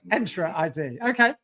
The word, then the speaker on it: Entra ID: It's called Entra ID, is it? Okay, thank you. I'm really. It's an invitation to enter. Okay. So it's Entra ID.